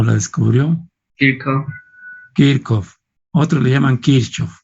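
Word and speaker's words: Kirchhoff: o la descubrió el kickoff otra le llaman quiso se escribe quiche pero es kiko de acuerdo el setsuv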